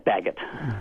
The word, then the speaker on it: Baggett: Yeah, it's Baguette.